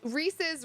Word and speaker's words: Reese's: But that doesn't make sense though, because Reese's rhymes with pieces.